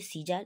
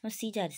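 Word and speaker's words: Caesar: নিয়ে ঠিক আছে দেখো যদি এ সাইলেন্ট থাকে উচ্চারণ হচ্ছে সিজার এর কোন কোন ছিটাপাই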